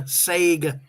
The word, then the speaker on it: Sega: means this one here said it right there Sega Sega said it right this time mean that